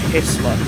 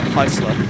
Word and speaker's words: Heisler: do remember in the video, he kept saying Heisler wrong. He kept saying it was Hessler. But no, I'm pretty sure. I've always known that word as being pronounced as Heisler.